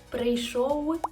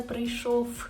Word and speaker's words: прийшов: Правильно, вони читаються ось так: дивишся, прийшов, а не прийшов.